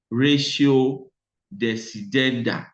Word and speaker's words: ratio decidendi: the court is what is generally known as ratio decidendi. Ratio decidendi. I'll spell that again for the benefit of those who are writing.